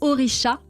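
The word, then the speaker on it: Orixá: Oricha qui se prononce comme ça mais il y a un X.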